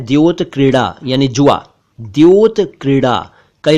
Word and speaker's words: द्योतक: एक शब्द है द्योतक इसे कई क लोग तक या धो तक कहते हैं जबकि यह है द्योतक द्योतक इसका मतलब है सूचक